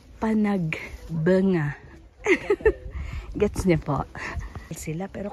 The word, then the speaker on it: Panagbenga: sabi daw bunga blooming Hindi po benga Panagbenga pero ang correct pronunciation daw po Panag banga gets niyo po sila